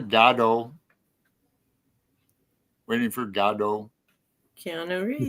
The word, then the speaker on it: Godot: He pronounced it Godot.